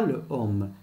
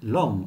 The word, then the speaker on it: l'homme: Exemple, le homme, on ne dit pas le homme, il y a deux voyelles. On dit l'homme, on efface E et on met l'apostrophe.